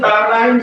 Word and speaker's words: paradigm: Okay, so this is an international conference on emerging paradigms in English studies. Okay, how many of you correctly pronounce paradigms?